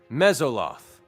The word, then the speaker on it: Mezzoloth: Yeah, can you go ahead and pronounce that for us? Thanks. You're a gem. Mesoloth.